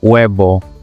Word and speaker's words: huevo: F, F, G, G, H. This one is silent, guys. Whenever you see it, just don't mention it. For example, hola, in the word hola, o huevo.